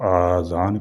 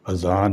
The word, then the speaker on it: اذان: اذان کہا جاتا ہے۔ بعض لوگ الف پر مد کے ساتھ اس کو آذان کہتے ہیں۔ یہ غلط تلفظ ہے۔ آذان جمع ہے اذن ان کی، اور اذن کے معنی ہے کان۔ درست تلفظ اذان ہے، یعنی الف پر مد کے بغیر۔ اذان کے لغوی معنی